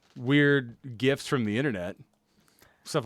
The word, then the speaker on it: GIF: No, not gifts. Not presents. No, GIF, like a GIF. Ethan, you're supposed to pronounce it a GIF.